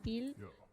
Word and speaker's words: fille: I want to say fille, but it's more like the double L in Spanish, elge. It's almost like saying fille.